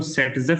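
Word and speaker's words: Zaitsev: एक second, Z save मत लिखिए आप लोग, जनरली इसको सेटजेफ बोला जाता है। Rule, it was given by a scientist जिसका नाम ऐसे दिखता था वो जेड सेव, बट उसकी प्रोनाउंसिएशन होती है सेटजेफ।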